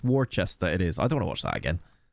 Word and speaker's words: Worcester: But yeah, you're saying it wrong. It's Worcester.